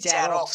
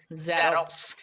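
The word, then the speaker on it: Xerox: যেমন আমরা অনেকে বলি জেরক্স, কিন্তু এটা জেরক্স না, এটা উচ্চারণ হবে জেরক্স। একটু ভালোভাবে লক্ষ্য করতে হবে, আমরা জেরক্স বলি, বর্গীয় জয়ের উচ্চারণ কিন্তু এক্স দিয়ে উৎপন্ন হয় না, যেটা জেড এর সাউন্ড সেই সাউন্ডটা কিন্তু এখানে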